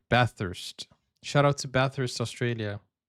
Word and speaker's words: Bathurst: Bathurst, Australia. Bathurst, New South Wales, Bathurst. Australia. It's a couple hours outside of... I'm sorry, I've been saying it wrong. Bathurst.